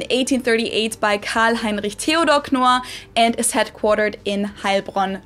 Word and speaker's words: Knorr: The K is not silent here. Knorr was founded in 1838 by Karl Heinrich Theodor Knorr and is headquartered in Heilbronn, Germany.